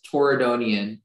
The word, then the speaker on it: Torridonian: Yeah, the word's only pronunciation is Torridonian.